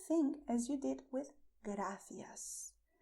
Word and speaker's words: gracias: as you did with gracias. But when you pronounce gracias, you are not going to expel the air. Gracias. It's only the movement of the tip of your tongue touching your front teeth.